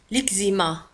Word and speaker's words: eczéma: l'eczéma تكتب ب E C Z E accent M A تنطق l'eczéma l'eczéma l'eczéma l'eczéma.